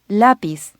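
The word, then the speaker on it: lápiz: a facile another example lapiz notice that if correctly pronounced the emphasis is on the first syllable its lapies not lapies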